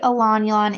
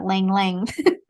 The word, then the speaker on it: Ylang: you say Elan, is it spelled Ylang? Yeah. Ylang. Yeah. I was today's years old when I learned that's how you pronounce that. I've always said Lang Lang.